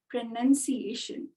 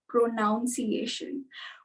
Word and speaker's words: pronunciation: It is not pronunciation. We tend to say pronunciation as soon as, because we just glance at the word. When we're just learning to speak English, what we do is we glance at the word and pronun appears to be pronoun. So we are like pronunciation.